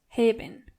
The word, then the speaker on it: heben: the verb to lift, heben. Starting with ich Du hebst. Er, sie, es hebt. Wir heben. Ihr hebt. And sie heben. As you can see, the verb heben sounds similar to the verb haben.